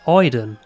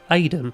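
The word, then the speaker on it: Aiden: as such in which she is named idon or as we pronounce in england aidan throughout jody's early life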